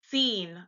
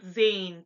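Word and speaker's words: zehn: for instance the number 10 in German is pronounced seen not Zane but seen okay so now we're gonna get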